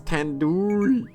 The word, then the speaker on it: tandoori: Wait, it's tandoori. Tandoori. The do part is like door, like doo-doo head. Are you 5 years old? You could have just said like due as in due date. Tandoori.